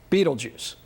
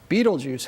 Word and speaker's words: Betelgeuse: giant orion hunter and its name is beetlejuice which most people pronounce beetlejuice and if you've ever